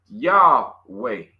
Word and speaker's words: YHWH: So many Greek transcriptions also indicated that YHWH should be pronounced Yahway.